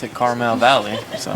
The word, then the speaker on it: Carmel: See, but they pronounce it Carmel Valley. So. Well, it's spelled, Carmel is actually spelled C-A-R-M-E-L, so there is no A in the geographic location.